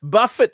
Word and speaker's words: buffet: oh buffet buffet way Buffet stocks well that's Warren's a whole different story now that I do buffet with the t is silent no um you're right